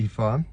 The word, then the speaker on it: ІФА: Не ІФА, а ІФА. Так ми скорочуємо і так вимовляємо цей тест.